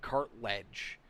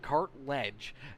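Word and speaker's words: Cartledge: saying cart a ledge like there's no I in there cart ledge okay thank you Susan for for for for making me see that there I appreciate that I appreciate that said it right the first time cart ledge out there as uh yeah cart then ledge as uh I Conor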